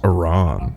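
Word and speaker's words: Aran: Aaron. Hey. Hey. Sam. Aaron. Is that the Wait, they're pronouncing her last name. Aaron, please get me down. I thought it was Samus Aron.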